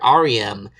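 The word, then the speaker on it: Ariem: And, her name is R.E.M. I mean, it's spelled A-R-I-E-M, but it's pronounced R-E-M, as in REM sleep, the portion of your sleep cycle where you're dreaming.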